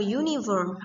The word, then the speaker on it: uniform: When U sound as Y. Ketika U itu dibaca Y. Contohnya, a uniform, a use plate.